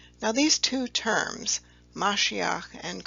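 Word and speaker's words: משיח: shown in the first row here and is pronounced mashiach below that is the greek term for the anointed one which is pronounced christos now these two terms mashiach and christos would later be in english the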